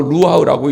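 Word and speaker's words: רוח: 여기 생기라는 단어는요, 히브리 말로 루하흐라고 읽어요.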